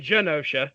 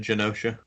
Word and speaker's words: Genosha: I guess but yeah Genosha probably would make sense considering what you know we're talking about mutates and gene so Genosha probably is correct so